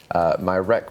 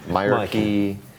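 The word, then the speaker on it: Myreque: It's a reference to the Marquis from the French Resistance, who, not spelt like that, obviously, but it's spelt Myrarchy to sound like Marquis, but be in a mire, a swamp.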